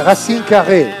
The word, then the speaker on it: Racine Carré: Dovrebbe essere l'accento sulla, sì, se non sbaglio, no? Qui. Racine. Dovrebbe essere Racine Carré.